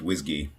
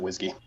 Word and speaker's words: WSGI: WSGI and some people may have heard it pronounced whiskey yeah I pronounce it whiskey mm-hmm yeah me see I'll do a I'll